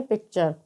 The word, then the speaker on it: picture: तो यहाँ पर भी टी के बाद में URE आया है, तो यहाँ पर टी का उच्चारण च होगा। तो PICTURE को हम क्या पढ़ेंगे? पिक्चर।